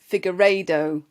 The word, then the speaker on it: Figueiredo: on today's podcast and I'm gonna have to pronounce her name correctly we have Jenny figueredo is that ever said it right yes perfect